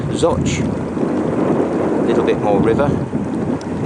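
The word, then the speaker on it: Zouch: we are currently in soch spelled zooch but pronounced zotch a little bit more river the locks in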